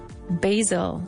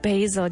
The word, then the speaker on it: basil: Basil. Very good. Basil. Ya sabéis que en inglés la A es A y no A. No se dice basil, se dice basil.